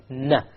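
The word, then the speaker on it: ن: The noon, you actually use the tip, na. You connect the tongue to the molar behind the canines. You have the noon.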